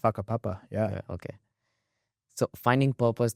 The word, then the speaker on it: Whakapapa: Did I pronounce this right? Whakapapa, yeah.